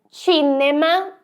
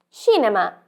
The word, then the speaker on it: cinema: e Tita você acertou em português nós temos o c mas ele tem um som diferente como cinema cidade mas em italiano tem outro som então cinema é cinema e cidade é Chita esteja atento na sua